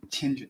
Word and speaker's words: Tianjin: Tianjin, yes. Yes. I must have, how do you pronounce it?